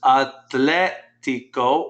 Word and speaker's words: atlético: El muchacho atlético practica, notice how I pronounce that, put the stress on that I. Practica, say that, practica. Practica. Chicos. El muchacho atlético practica todo el tiempo. Notice atlético.